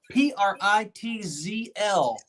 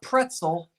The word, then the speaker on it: Pritzl: P-R-I-T-Z-L. P as in poo. P-R-I-T-Z-L. Not pretzel, Pritzl.